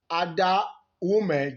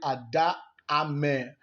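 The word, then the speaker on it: Ada Ameh: Having said that, Ada Ume just wasn't having anything. Okay, no, I think I have that name pronounced wrong. It's actually Ada Ame, a Nigerian Nollywood actress,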